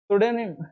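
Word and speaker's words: pseudonym: यहाँ पर तय है, कभी भी आपको एस के पहले पी मिल रहा हो तो आप क्या कर दें, उसको साइलेंट कर। साइकोलॉजी हो, साइकोलॉजी में भी पी साइलेंट करते हैं, यहाँ पर भी हिंट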